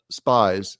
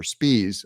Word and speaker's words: Spies: general counsel Charlie SP spies said or Spees I'm sorry said in a statement